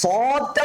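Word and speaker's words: صاد: কি ভাই মোটা করে আমরা অনেকে বলি সোয়াদ সোয়াদ সোয়াদ না উচ্চারণটা বেসিক্যালি কি এই উচ্চারণটা সোয়াদ না এটা কি সোয়াদ না আমরা যদি সোয়াদ বলি সো আদ বলি এটা কি ভুল সোয়াদটা কি ভুল উচ্চারণটা বেসিক্যালি কিভাবে করবো আমরা সদ স মোটা করে সদ স এভাবে করে স এভাবে উচ্চারণ করবেন হ্যাঁ স সদ সদ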